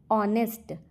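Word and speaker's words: honest: ऑनेस्ट का उच्चारण vowel sound से होता है। इसलिए ए एन लगेगा।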